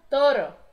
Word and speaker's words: toro: E o touro só tirou ali a letra U, porque fica toro. Toro. Toro. Lembrando que tem um R só, então não vibra tanto como em perro, burro. Nesse caso é um só, então toro.